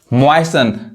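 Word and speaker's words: moisten: उसी तरह देखिए फासन, TEN आ रहा है, टी नहीं पढ़ाएगा, फासन बांधना, ग्लीसन चमकना, ऑफन प्राय, मॉइसन गीला करना।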